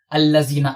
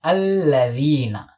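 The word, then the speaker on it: الذين: If you find someone teaching this word like allazina, allazina, don't follow that person. This is alladhina. Touch your upper central incisors by your tip of the tongue. Say alladhina. Alladhina. This is the correct pronunciation.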